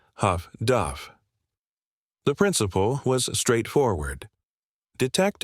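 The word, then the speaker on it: HF/DF: The British had developed highfrequency direction finding equipment, abbreviated HFDF and pronounced Huff Duff.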